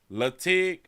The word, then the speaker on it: Latigue: Latigue is how they pronounce it? Latigue?